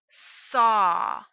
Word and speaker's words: saw: Saw. S-A-W. The word saw ends with the ah sound.